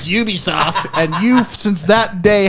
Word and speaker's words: Ubisoft: you double down you know they're actually it's pronounced ubisoft and you've since that day have never backed